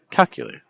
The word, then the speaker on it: calculator: You don't want to say calculator, you want to say calculator.